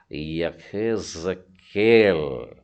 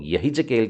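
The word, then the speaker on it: יחזקאל: इसका उच्चारण हो जाएगा यखेज़केल, है ना। हम लोग यही जकेल की पुस्तक पढ़ते हैं, पर ह का जो उच्चारण होता है, आप पीछे गले से अगर उसका उच्चारण करने जाएंगे तो हल्का सा ख निकल कर आता है।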